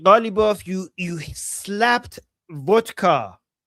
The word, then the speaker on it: Witkoff: He's mispronouncing it. He's saying he's making Witkoff sound like vodka.